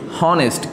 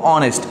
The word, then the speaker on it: honest: Problem হবে এটা বুঝতে, যে HONEST হনেস্ট, কিন্তু আমরা এটা হনেস্ট উচ্চারণ করব না, কারণ এই এইচ যেটা আছে যে লেটারটা সেটা উচ্চারণ হয় না, আমরা এটাকে উচ্চারণ করব অনেস্ট। এইচ উচ্চারণ না হয়ে পরবর্তী ওটা উচ্চারণ হয়, তাহলে আমরা এই ওয়ার্ডটাকে কীভাবে উচ্চারণ করব, অনেস্ট, নট হনেস্ট, এটা হবে অনেস্ট ও।